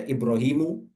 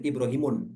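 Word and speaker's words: إبراهيمُ: ini contoh di sini ada ibrahimu ibrahimu enggak boleh di ibrahimun ya masajidu itu enggak boleh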